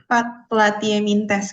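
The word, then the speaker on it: Platyhelminthes: Ya, gimana Kak Ara bacanya? Platyeminthes Kak, benar.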